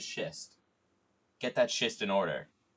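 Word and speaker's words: schist: But I know this is shist.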